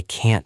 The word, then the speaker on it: can't: In a sentence, can is usually short and quick, but can't has a very clear T sound at the end. That is a good tip. I can swim. I can't swim.